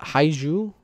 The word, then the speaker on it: Haiju: Because the Haiju, that's how you pronounce it.